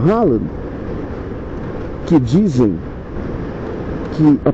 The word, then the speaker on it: Haaland: É o Haaland, que dizem que a pronúncia correta é Rola, o que gera muita quinta série na minha cabeça e na de qualquer homem nesse país.